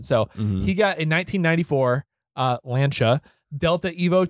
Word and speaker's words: Lancia: as people in our comments section said, it's pronounced Lancia.